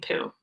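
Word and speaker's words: Pu: Chapter 1, Meet Geraldine Pooh. Her last name rhymes with blue and chew.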